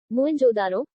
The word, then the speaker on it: मोहेंजोदड़ो: इनमें से 2 नगर बहुत ही महत्वपूर्ण हैं, पंजाब का हड़प्पा तथा सिंध का मोहेंजोदड़ो। मूल उच्चारण मोहेंजोदारो, शाब्दिक अर्थ प्रेतों का टीला।